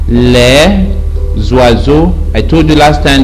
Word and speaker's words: les oiseaux: so the topic says le zwarzo les zwarzo you join the s with the o while reading le zwarzo i told you last